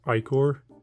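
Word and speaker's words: Ichor: This Iker Moon Gauntlet. Apparently the proper way to pronounce this is Icor, but it just sounds weird. It sounds unnatural to say.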